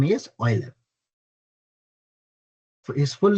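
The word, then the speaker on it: Euler: Okay, so the pronunciation of this name is Oiler.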